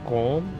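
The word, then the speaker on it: COAM: It looks like euro, but it's pronounced Quam.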